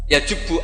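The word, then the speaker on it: يجبّ: Itu bacanya bukan yajibu tapi apa? Yajubbu a yaqtou.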